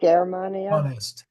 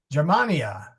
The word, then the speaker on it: Germania: Germania oops Germania non isn't it Gman uh no it's a soft G oh okay uh as in Gemma cheses oh okay graa AIA Syria egyp BR imper Romano Germania nonest in imperio Romano